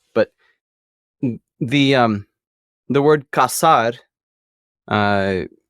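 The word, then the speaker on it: casar: get married um but if you change the S to a z in Spain it's pronounced differently it'd be K but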